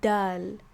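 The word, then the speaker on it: دال: but this one is called the dal right and you just pronounce it like the d sound it's just a normal d sound this one is right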